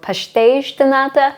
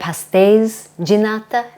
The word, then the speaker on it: pastéis de nata: I'm saying the Azorian pastéis. I feel like all the Azorian pronunciation is like shushing. So pastéis de nata instead of pastéis de nata.